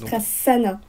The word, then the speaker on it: Prasanna: Alors, il y a un seul S, 2 N, mais ça se prononce Prasanna.